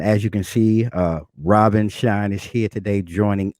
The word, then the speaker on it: Rahbin: amazing audience all right well my name is robin shine uh my mama didn't spell it like that i spell it r-a-h-b-i-n but